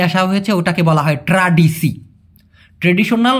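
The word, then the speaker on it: tradisi: ওটাকে বলা হয় ট্রাডিসি। ট্রেডিশনাল বা ঐতিহ্যকে মালয়েশিয়ান ভাষায় কি বলে? ট্রাডিসি। ট্রাডিসি। এখন এ হবে না। মূলত হবে স। কারণ এসকে ওরা সবসময় স এর মত উচ্চারণ করে।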